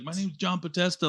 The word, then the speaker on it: Podesta: It's supposedly like John, but how do you pronounce his name? Podesta.